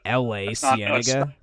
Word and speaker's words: La Cienega: Did you just say L.A. Cienega? No. It's L.A. and then Cienega. No, you're absolutely right. Right there is an L.A. in the word, dude, but Yeah. it comes from a Spanish origin.